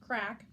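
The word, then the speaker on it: craic: Other expressions for talking to Twinkle-Toes included a chit-chat, sharing the crake, pronounced crack, and more honestly than most, having a good old gossip or dishing the dirt.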